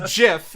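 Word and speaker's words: GIF: way too freaking long way too long it's pronounced Jiff and this has been episode 299 of Talking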